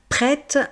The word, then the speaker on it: prête: J'ai besoin de dire prête parce que c'est pour mettre la différence entre le masculin et le féminin.